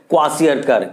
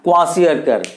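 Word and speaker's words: kwashiorkor: के आती है, उस बीमारी का नाम है क्वाशियरकर। क्या नाम है बच्चों? देखिए, सब प्रोनाउंस आप अच्छे से कीजिएगा, क्वाशियरकर।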